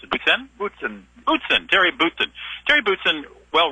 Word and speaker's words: Boutsen: Starting with my next guest, his name is Terry, how do you pronounce it, Boutsen? Boutsen, Terry Boutsen.